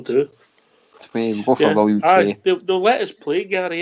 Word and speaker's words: Willem II: How are you pronouncing it? William Twa? William Two? William... How did Fox pronounce it, Bridge? William Twa? Foxy went for the Twa. He went for Twa, didn't he? Twa. Dutchie put him right. couple of times. Tway. William Twat. William Tway. Yeah, that'll do.